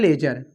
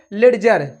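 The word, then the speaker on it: ledger: अब थोड़ा सा डियर आप लोग याद रखिए, कहीं भी डी के बाद जी आए तो आप हमेशा वहां क्या डी को क्या करते हैं साइलेंट रखते हैं, क्या साइलेंट, क्योंकि कुछ बच्चे इसको पढ़ते हैं लेडजर, क्या लेडजर।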